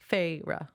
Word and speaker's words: Feyre: Fair. Feyre.